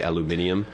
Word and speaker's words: aluminium: say kernel there's also the uh aluminum british people say aluminium because we cut out a syllable it should be aluminium